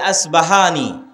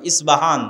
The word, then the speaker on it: ইস্পাহান: আমরা প উচ্চারণ করি ইস্পাহান আরবিতে এটা উচ্চারণ হয় না আরবিতে হয় আল আসবাহানি বা উচ্চারণ হয় ইসবাহান বা আসবাহানি সেখান থেকে